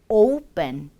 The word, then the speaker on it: open: 역시 오픈이 아닌 open, open. 이렇게 충분히 오, 우가 다 들리도록 발음을 해주세요.